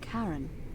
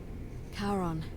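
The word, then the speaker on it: Charon: it's just as you described it only your pronunciation is a little off the name you heard wasn't karen it was c-h-a-r-o-n the ferryman of the dead caron who in exchange for the right coin helps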